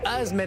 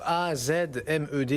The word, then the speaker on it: AZmed: Avec ce soir Azmed avec nous, A-Z-M-E-D, est-ce que je prononce bien d'ailleurs? Julien, bonsoir. Bonsoir. Azmed, oui. AZmed ou Azmed, comme vous voulez.